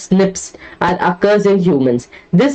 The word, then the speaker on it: SNPs: difference that is snps single nucleotide polymorphism pronounced as Snips or occurs in humans